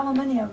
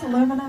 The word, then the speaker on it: aluminium: Yeah, we have an extra syllable to aluminium. I'm not sure where the difference, aluminum, aluminium, but...